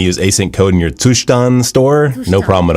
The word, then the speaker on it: Zustand: You know, today I figured out the pronunciation of Zustand, and it is actually a German word apparently. Here. So you want to use async code in your Zustand store?